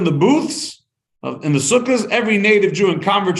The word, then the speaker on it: Sukkot: the Jews left Egypt there's been a holiday called sukkas or Sukkot if you have a Sephardic pronunciation and for that many